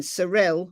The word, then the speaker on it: Cyril: So it's Athena Brownfield in Cyril, which is spelt Cyril, because I keep thinking Cyril, Oklahoma.